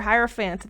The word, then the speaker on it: hierophant: them I'm just kidding it is not air I'm wrong it is higher like hierarchy wow waffles I thought